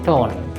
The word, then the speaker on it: torn: এখানে লক্ষ্য করুন, আর তারপরে আছে n, আর এর পরে consonant, সুতরাং আমরা এখানে torn বলবো না, আমরা কি বলবো? tone.